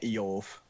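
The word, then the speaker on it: איוב: It's technically we should be pronouncing it Eov.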